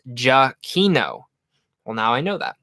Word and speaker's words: Giacchino: Michael Giacchino told us in Downtown Disney that it's pronounced Giacchino.